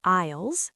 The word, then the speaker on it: aisles: Third, you walk down the aisles, and remember the S in silent.